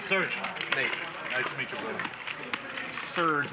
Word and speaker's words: Serge: nice to meet you Serge like the cola how do you spell Serge s e r g